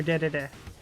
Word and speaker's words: Dedede: Or Dedede. That's how Sakurai wants you to pronounce it.